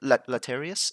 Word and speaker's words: Latarius: into VCT EMEA from, what team do you, Latarius? Is that how you pronounce it? Yes, yeah.